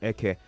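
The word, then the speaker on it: Ekeh: Eke, more like Eke. I think that's how that's pronounced.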